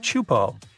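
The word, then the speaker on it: Teahupo'o: It's pronounced Chupo, and it means broken skulls in Tahitian. Yeah, you heard that right, broken skulls. The waves at Chupo are massive and can reach up to 23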